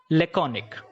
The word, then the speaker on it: laconic: लैकोनिक sounds like एटॉमिक।